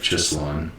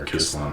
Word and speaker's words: Chislon: Elidad the son of Chislon, or Kislon probably, because they pronounce their CH with a K sound.